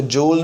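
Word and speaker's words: joule: इसके different pronunciations हैं, इसको जूल भी पढ़ते हैं और जाउल्स भी पढ़ते हैं।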